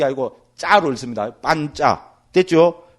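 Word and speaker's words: pañca: 파로 안 읽고, 그러니까 격음으로 안 읽고 경음으로 읽거든요. 그것만 좀 다릅니다. 그러니까 빤짜 돼버리잖아요. C도 그죠? 차로 읽는 게 아니고 짜로 읽습니다. 빤짜.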